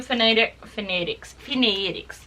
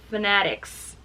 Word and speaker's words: Fanatics: Brand new phonetics. Not phonetics. Fanatics. That's the correct way to say that.